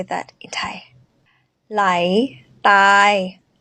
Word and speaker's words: ใหล: say that in tai lai lai lai a rising tone lie light here is